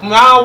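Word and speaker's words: Myle: And make sure if you have not downloaded the Mile app, you download it today. That's M-Y-L-E, and it's spelled Mile with a Y instead of an I because it's all about you.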